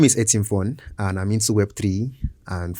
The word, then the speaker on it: Etimfon: Etimfon, would you love to introduce yourself today? Okay, my name is Etimfon, and I'm into Web3.